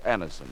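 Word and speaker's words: Anacin: dentist thousands of people have been introduced to anderson this way try anderson yourself the next time you suffer from the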